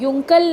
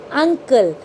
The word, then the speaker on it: uncle: Okay, but the sound of यू in spelling is अ. तो हम तभी इसको युंकल नहीं पढ़ते हैं. वी यूज़ to read it अंकल. यू की साउंड है अ.